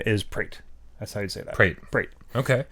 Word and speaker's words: Pret: box cutter whatever and I discovered something yes PR ET a credit not pronounced Preta prate no no a sound in in according to